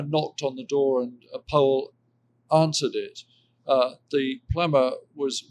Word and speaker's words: Powell: Anthony Powell, you'll note I'm pronouncing it. Powell was so snooty that